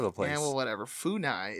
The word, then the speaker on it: FUNAI: There's a group in Brazil called FUNAI, and I'm probably not pronouncing that right.